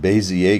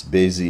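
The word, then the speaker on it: Bézier: I'm sorry it's called basier Curve actually uh in the Java J a2d this is a cubic curve and it's a cubic curve function but here it's Bas curve and that's a French word so that's pronounced Bay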